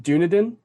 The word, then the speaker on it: Dunedin: I believe it is pronounced Dunedin, because the name comes from the Scottish Gaelic name for Edinburgh, Dune Aiden.